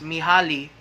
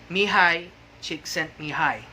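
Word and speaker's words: Mihály: the russian positive psychologist if you read his word his name it it looks as if it pronounced me ali she sent me holly but it's actually mihai now a brief history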